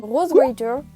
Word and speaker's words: Rosewater: Je vais parler de l'île Rosewater, on va le prononcer un petit peu à l'anglaise, ok ?